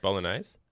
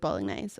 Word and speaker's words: Bolognese: I do make a pretty good bolognese. Did Fry you says just better than his pronounce mum. the G? Did you just really stick that G? Bolognese? Did you stick the G in there real hard?